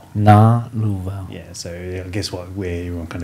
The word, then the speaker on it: Galuvao: Galuvao. Yeah, so I guess where everyone kind of gets tripped up is just the pronunciation of the G. Okay. So it's like singer. So the G in singer.